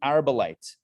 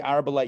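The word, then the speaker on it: Arbelite: page which begins with nitai the arbolite nitai the arabilite rhymes with marmalite but it's not nitai the arable light used to say okay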